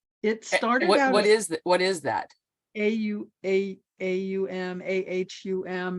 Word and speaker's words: Om: AUM.